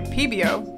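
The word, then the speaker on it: Pébéo: This marker is by Pebeo, I believe that's how you say it, and this marker is a little bit different because it's oil-based.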